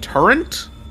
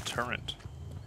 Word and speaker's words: turret: I can understand why people say it like that, but Turrent? Turrent. There's no N! Turrent. The torrential downpour. The turret.